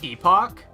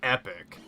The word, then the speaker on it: epoch: I always thought it was pronounced Epoch. I've heard speedrunners pronounce it Epic. I don't think that's actually how you pronounce that word.